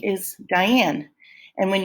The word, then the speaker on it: Diane: my first name is Diane and when you say Diane you say die low in up say it aloud to